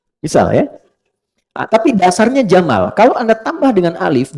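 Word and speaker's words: جمال: Saya notice ya, pendek bacanya, jamal. Bukan Jamal. Jamalun, unta. Jamal, ganteng. Oke?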